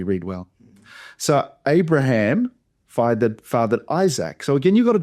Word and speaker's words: Isaac: Well, so Abraham fathered Isaac. So again, you got a double A. In Hebrew, it would be Itsak, but don't worry about that. So Isaac, Isaac, I would just say Isaac cuz that's how everyone says it.